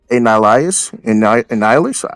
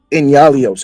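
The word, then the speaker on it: Enyalios: Annihilus? Am I pronouncing this shit right? Nihilus? Not even remotely. Yo, thank you. Yalios. Inyalios.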